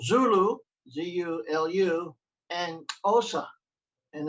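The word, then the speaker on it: Xhosa: called zulu z-u-l-u and osa and it's got it's got a clock click in it like osa osa also like that anyway so it's spelled x-h-o-s-a so those languages you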